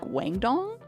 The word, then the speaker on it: Guangdong: Sorry, it's pronounced like Guangdong.